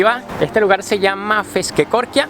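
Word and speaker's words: Feskekôrka: comencé a buscar los nombres y su correcta pronunciación en google así que aquí va este lugar se llama fish que coria y es un mercado de pescado y de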